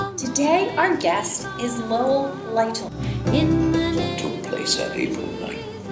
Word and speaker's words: Lytle: heritage of truth today our guest is Lowell lytle is that how you pronounce it that's it yes okay you have